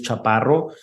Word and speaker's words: Chaparro: It is, and then my last name, Chaparo. And that's pronounced Chaparro.